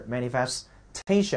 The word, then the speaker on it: manifestation: 同样你看重音在这 manifestation 做名词叫显示表明